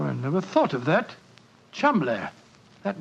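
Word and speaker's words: Cholmondeley: reason to know that the name Cham is in no way pronounced the way it is spelled but Jo I never thought of that Cham that name spelled c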